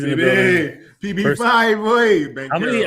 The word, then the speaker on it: Banchero: It's not Banchero. Banchero.